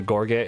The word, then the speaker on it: gorget: it the throat armor the gorget is how you pronounce it you know like all